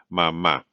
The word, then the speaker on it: mamá: So la mamá, la mamá.